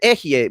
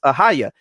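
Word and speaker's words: Ehyeh: The first person grammatical form is the form that they well, not the pronunciation, but you know, the Ehye, which they mispronounce Ahaya.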